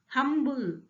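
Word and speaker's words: humble: हम अगर साउंड देख रहे हैं तो क्या है, ह का साउंड यहाँ भी आ रहा है, हम का साउंड आ रहा है, एच है, एच साइलेंट नहीं है यहाँ पे, तो क्या है यहाँ, यहाँ दोनों कॉन्सोनेंट्स हैं।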